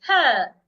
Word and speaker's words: her: vowel letters when you have letter r after vowel e or vowel I or vowel U most times it sounds uh for example the word her I would not say ha it's her I saw her yesterday another